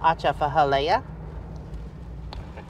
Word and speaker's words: Atchafalaya: an H the comments so AA fora yeah that's it you you nailed it like I said it sounds like something you do to a fish I don't know maybe